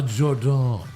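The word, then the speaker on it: Jordynne: happy and Jordan Grace it's pronounced a Jordon Jordon that's like Brian rean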